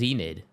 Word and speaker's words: Xnid: And somebody told me that Xnid is pronounced Zenid.